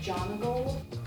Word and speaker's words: Jonagold: - It's pronounced John a gold.